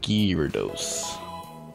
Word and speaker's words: Gyarados: It's pronounced Gyarados, actually.